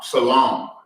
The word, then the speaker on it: salam: Salam.